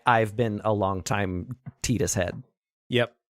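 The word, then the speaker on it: Tidus: the player protagonist uh Canon name is tetus uh I always pronounced it Titus uh cuz of the water uh theming of the game it makes so much sense it makes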